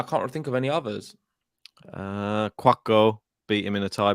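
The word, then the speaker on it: Couacaud: Yeah, just Quacko. Yeah. Why'd you say his name like that? That's how it's pronounced.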